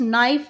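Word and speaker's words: knife: for example, in the words नाइफ, knowledge and नो, the first letter no, के इज़ not pronounced, और जो के है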